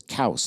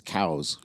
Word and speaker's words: Coues: He's the one that actually quote documented the first Coues deer, but the French actually pronounce it as Couse, like rhymes with house. But everybody says it, there's the scientific community says it's cows.